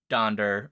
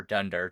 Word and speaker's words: Donder: Prancer Vixen Comet Cupid donder or Dunder depending on your pronunciation Blum in the original